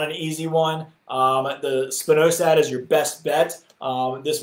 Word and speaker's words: spinosad: Janice said, can you spell spinosad?